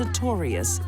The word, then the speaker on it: Storius: I think the best thing to be learned here is never marry a woman whose last name rhymes with notorious.